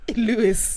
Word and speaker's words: Louis: Vuitton glasses well is Louis from Louis Vuitton Lewis yeah that's how you say it in fact Louisiana Louisiana